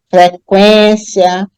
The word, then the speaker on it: frequência: mas nessas aí todas se você pronunciar você vai ver que o u Ele é pronunciado tá você pode até fazer aí agora o exercício perceber linguiça enxague Equino frequência linguística bilingue então nessas sílabas o u é pronunciado então mas eu não